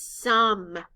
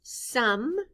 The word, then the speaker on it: some: s o m e in this word the letter o stands for the short u sound uh the e